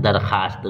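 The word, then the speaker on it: درخواست: वास्त प्रते क्या है दरखास्त जिस वाब को लिखा जाए मगर पढ़ा नहीं जाए मास्टर साहब याद रखिएगा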